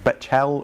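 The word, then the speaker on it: Bechtel: It's in the Summit I always say it wrong, Betchel Reserve, not the Belcher Reserve as I said it the first time I said it, Betchel Reserve in West Virginia.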